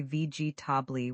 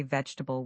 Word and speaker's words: vegetable: Learners often say vg tabi with four syllables, but native speakers say vegetable with three syllables or sometimes even just two. It sounds like veal or even vel. The middle syllables blend together.